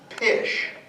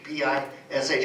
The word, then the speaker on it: pish: it so for example the word for fish became pish pish p i s h because they couldn't pronounce the English F and uh so if